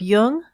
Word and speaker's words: Jung: jung on apple podcasts just be sure to pronounce jung with a hard j links to amazon's new